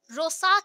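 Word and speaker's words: Rorschach: discover किए the Harman रोसन ने हर्मन रो साथ में देखो आर थोड़ा सा साइलेंट रहेगा जो दिमागी तौर पे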